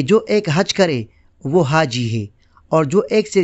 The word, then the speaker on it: حاج: سکتا ہے، جیسے الکتاب۔ حج کرنے والے کو عربی میں حاج کہتے ہیں، حاج کی جمع حجاج ہے۔ قیوم ملک نے اپنی کتاب اردو میں عربی الفاظ کا تلفظ میں حاجی کے عنوان کے تحت لکھا ہے، عربی میں حاج، الحاج، بول چال میں عرب لوگ حاجی بھی کہہ لیتے ہیں۔ حاج کے ساتھ